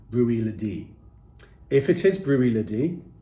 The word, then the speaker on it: Bruichladdich: i did taste recently brookhladdy the classic lady however i am being told i'm mispronouncing it and it should be rui lady if it is brewery